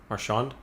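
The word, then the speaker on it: Marchand: i know these boston guys actually brad michonne marshand how do you say his name marshawn yeah uh played some mlb actually as well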